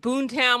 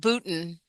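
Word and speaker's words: Boonton: always see a train like Boontown. Like, what the hell does that mean? Like, I Oh, know, I know. Go that's ahead. pronounced Booton.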